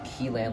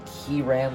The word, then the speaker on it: Kilan: It's normally spelled K-I-L-A-N, but some people spell it with an R instead of the L. So I'm going to be saying Kilan, but you can say Kilan, Kiran, whatever. But again, I will be saying Kilan throughout the video.